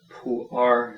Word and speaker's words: Pu'er: Pu'er, I prefer the word pu'er. It's more, that's the way it would be pronounced in Mandarin Chinese.